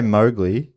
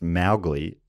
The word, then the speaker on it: Mowgli: you know how we say Mowgli? Apparently it's actually pronounced Mowgli, and Kipling's daughter never forgave Walt Disney for the mispronunciation.